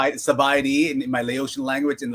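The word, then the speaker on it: ສະບາຍດີ: Sabaidi.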